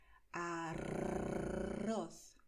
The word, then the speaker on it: arroz: Entonces, en español, nosotros hacemos arroz, ¿vale? La lengua tiembla, la lengua hace brrr, ¿vale?